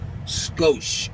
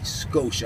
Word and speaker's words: Scosche: in on it there skosh SC o SCH ii skosh ugly that's the way you pronounce that then anyway this is